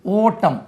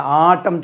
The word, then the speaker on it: autumn: எம்என் ஓட்டம். உச்சரிப்பு எப்படி? ஓட்டம். ஓட்டம் பிடிக்கிறது. நீங்கள் ஆட்டம் சொல்லக்கூடாது, ஆட்டம் பிடிக்கக்கூடாது. AUTUMN ஆட்டமன்னு உச்சரிக்கக்கூடாது.